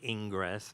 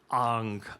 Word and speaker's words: Ingres: is terrible, so I'm not going to say Ingress, but it's Ang, or whatever his name was, but I'll call him Ingress.